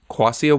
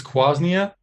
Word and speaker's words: quassia: Do you want to elaborate on what quassia wood is and also possibly correct me on my pronunciation? So it's quasnia, and it hasn't been in there.